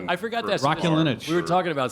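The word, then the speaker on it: Raskulinecz: Rascalinich. I forgot that. Rascalinich.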